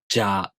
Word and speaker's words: ぢゃ: First off, じゃ, じゅ, じょ and ぢゃ, ぢゅ, ぢょ: These are pronounced in exactly the same way, but we use じゃ, じゅ, じょ almost all the time.